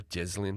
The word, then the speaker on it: Ghislaine: I'll keep calling her Ghislaine because that's apparently the way you pronounce it. But I prefer Ghislaine because it's a bit more suitable.